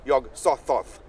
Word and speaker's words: Yog-Sothoth: Because pour Yog-Sothoth, how would you pronounce it? Yeah, Yog-Sothoth. In I believe he said it with the soft th, Yog-Sothoth.